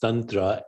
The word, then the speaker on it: tantra: sexual and spiritual rituals but Tantra properly pronounced Tantra is any ritual that